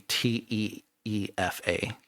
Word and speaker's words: Tifa: Tifa would be Teefa. It's like you're saying teeth and It's not Tifa, it's Tifa.